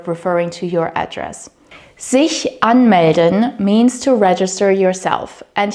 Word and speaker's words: anmelden: Sich anmelden means to register yourself, and here the word stress is on the first syllable.